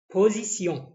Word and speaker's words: position: بعد كده إين جورني، une journée, une arrivée, une arrivée, une semaine, une course, une catastrophe, une position, طبعا الاس اتنطقت زد عشان بين حرفين متحركين، قلنا position.